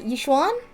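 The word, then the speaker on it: Yixuan: I keep thinking about it and that Miss God she her name was just pronounced Yishuan Yishwan.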